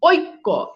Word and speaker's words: ঐক্য: আচ্ছা, এরপর আসেন ওই, এই ওই এর উচ্চারণ হবে অরস্বই, ও রস্বই। যেমন খেয়াল করে দেখেন ঐক্য, এই যে ঐক্য, এখানে দেখেন ঐক্য, ও রস্বই, ঐক্য।